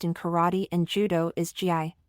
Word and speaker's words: gi: suits often used in karate and Judo is GI pronounced G interestingly the term GI actually means training